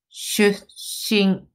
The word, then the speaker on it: 出身: 出身。Between shu and shi, there is a small tsu, so make sure you hold and pronounce. Shu shin, shu shin.